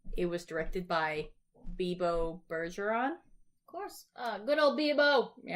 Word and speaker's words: Bergeron: But it said like Eric Bebo Bergeron. Whatever. I'm saying Bergeron like... He goes by Bebo, though. Like Patrice Bergeron because the last name is spelled Bergeron.